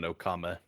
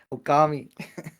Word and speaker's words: Okami: Well, someday I'll on Okama. Okami.